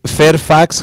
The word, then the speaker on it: Fairfax: Betty Fairfax High School la Betty Fairfax High School lo pronunciado así casi como en español y 59 avenida y